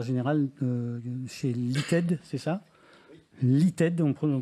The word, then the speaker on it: LITED: est le directeur général chez l'ited c'est ça l'ited donc on prononce comme ça ce qui est un spécialiste